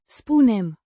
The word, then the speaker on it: spunem: Spunem. With a distinct U. sound like in, moon, and a softer, n, sound at the end.